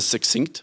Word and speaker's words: succinct: G in suggestion see Dad goes for succinct which is the correct way to say but he really sits on that he almost puts another one in there it's like a Triple C a tri whatever anyway